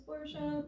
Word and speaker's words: Porsche: porsche guys i know the correct pronunciation is porsha but i'm from south texas like i've already said and how dr porsche stole designs not only